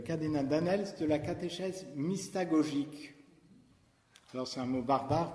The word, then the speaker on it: mystagogique: Il parle aussi, le cardinal Danels, de la catéchèse mystagogique. Alors c'est un mot barbare peut-être pour vous. Comment ça s'écrit?